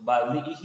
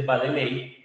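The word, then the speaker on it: Baddeley: Hitch y Badle o Badle y Hitch, que la gente dice Bady, de pronto ustedes pueden lo han escuchado con Bay, eh, pues porque se escribe así, pero pues es el profesor Badley y Badley lo que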